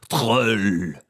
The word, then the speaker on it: drôle: Now, in English, droll means rather dry, flat, boring, but droll is a French word, drôle. I'm sure that's how it's said, drôle.